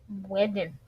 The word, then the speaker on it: Whedon: Whedon.